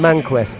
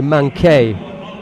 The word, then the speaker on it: Manquet: Right, yeah, I called him Manquest, but I think the stadium announcer is right. His name is probably Manquet, the pronunciation. Let's give him his French pronunciation, and we'll thank Luis Torres for bringing that to our attention. Manquet rather than Manquest.